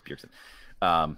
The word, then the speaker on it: Bjergsen: Did I get the name wrong? Bjergsen is messing me up. Bjergsen, so I'm second guessing myself, but it's Bjergsen.